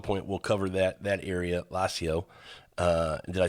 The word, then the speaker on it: Lazio: Maybe at some point we'll cover that area, Lazio. Did I say that right? How do you say that region for wine? Lazio.